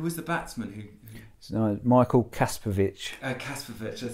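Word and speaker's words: Kasprowicz: Kasparovic, that's how you pronounce it.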